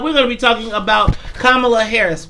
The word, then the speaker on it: Kamala: talking about kamala harris remember i said kamala not kamala yesterday i had an indian guy get on my facebook page and correct me said y'all been saying her name wrong forever we finally won she says kamala too your mama named jacob